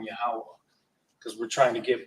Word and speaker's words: Yahweh: Some English Bibles may have certain times where it says Jehovah, but we know that Lashon Kodash doesn't have J's in it, so we won't really refer to him as that particular pronunciation. We'll just call him Yahweh because we're trying to